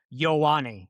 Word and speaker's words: Ioane: So it's Vega Ioane is how you say his name, according to him.